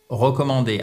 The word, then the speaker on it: recommend: Which vous recommandez évidemment c'est pas recommande, c'est recommand recommand et ça s'écrit avec un e en anglais et avec un a, le verbe recommandé en anglais.